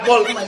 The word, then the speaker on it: folk: Silent L yun ah. Folk na. Folk.